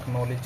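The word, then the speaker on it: acknowledge: तो यहां पर हम बात कर रहे हैं एक्नॉलेज की तो एक्नॉलेज की स्पेलिंग क्या होती है एक नो लेज एक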